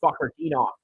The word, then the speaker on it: Fakhretdinov: Okay, Fakhretdinov. That's the best way to pronounce his name.